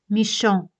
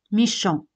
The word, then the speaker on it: méchant: Malo en francés es méchant. Méchant. Como veis aquí, T al final no se pronuncia.